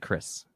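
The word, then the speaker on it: Kyriss: Maybe a distant cousin of mine, but Kyrus. We pronounce it Chris, actually.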